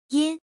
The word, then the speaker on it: 音: This word is pronounced as follow. Yin.